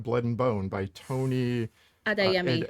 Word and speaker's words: Adeyemi: Children of Blood and Bone by Tony Adeyemi. Adeyemi. Yes. I had to write that out phonetically.